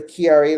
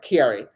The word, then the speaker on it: Chiari: But according to Elise, it's pronounced Chiari life. So Chiari.